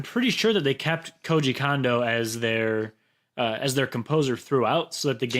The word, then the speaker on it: Koji Kondo: Koji Kondo, I believe is the pronunciation.